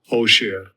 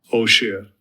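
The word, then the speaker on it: עֹשֶׁר: Osher. Click on it. Bunch of information given to us. You can have it pronounced for you. Strong's H 6239 Osher Osher Yay!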